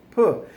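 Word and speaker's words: peux: bit right pronounce it pull so just because I added an X at the end doesn't mean you have to suddenly pronounce the X don't pronounce the X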